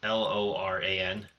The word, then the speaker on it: Loran: There's another new card that I saw, Lorraine of the Third Path. Hmm. It's just like one How of do you the new spell it? cards. It's Loran of the Third Path.